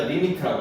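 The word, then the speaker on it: lim: L, I, M 해서 리미트라고 읽어.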